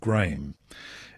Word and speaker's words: Graeme: His name is actually spelled Graeme, and it's correctly pronounced as a single syllable, Graham.